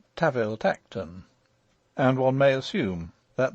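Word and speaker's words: Tanville-Tankerton: an authorial footnote that the duke's family name spelt tanville tankerton is to be pronounced taviltekten and one may assume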